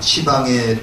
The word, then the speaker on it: 시방: 10방인데 요걸 이제 불교에서는 시방이라고 읽습니다. 시방이라고 읽는데 이거는 공간적 개념이죠. 공간적 개념입니다. 그래서 우리가 주변법계 공양 시방에 두루 계신 아니 계신 곳 없이 시방에 어디든지 계신 불법성 삼본님께 공양을 올립니다.